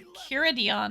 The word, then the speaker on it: Enchiridion: The ch is pronounced k. 12, Enchiridion.